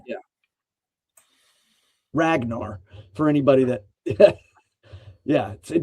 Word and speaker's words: Ragnar: And that's the G is K. Yeah, and it's a very hard G. Ragnar. Yeah. Ragnar, for anybody that yeah,